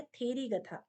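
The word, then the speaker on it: थेरीगाथा: नहीं है वो है थेरी गठ थेरी गठ या थेरी गठा ठीक है अलग अलग प्रोनाउंस हो सकता है यह जना अर्ली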